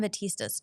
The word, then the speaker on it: Batista: Pam Batista's taught the bulk of my class. It's pronounced Batistas.